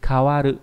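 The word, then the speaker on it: 変わる: Âm khương đọc là ka, ví dụ âm từ kawaru nghĩa là thay đổi, đa số là dùng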